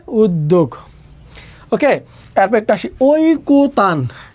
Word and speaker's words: ঐকতান: কয়কার ঐকতান, এখানে কতান না, এখানে হবে ওই কো, যে অন্ত এর নিয়ম অনুযায়ী এখানে হবে কো। এখানে আছে তয়কার্তা, দিলাম আমরা তয়কার্তা। এখানে আছে নটা শেষ বর্ণ, এখানে একটা হসন্ত, ঐকো তান। উচ্চারণটা হবে ঐকো তান, ঐকো তান, ঐকো তান, ঐকো তান।